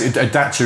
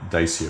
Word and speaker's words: Dacia: So yes, Dacia is the proper pronunciation, but unfortunately by then we'd already gone down the Dacia route.